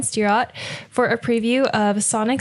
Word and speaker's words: Stirratt: Today, Lucas interviews John, I think it's pronounced Stirratt, John Stirratt, for a preview of Sonic Sleepover at Otyokwa.